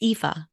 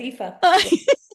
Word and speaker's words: Aoife: I've been saying, even after you pronounced it, I said Aoife. It's Aoife. Yeah, that's okay. You're close enough. Yeah, it's Aoife.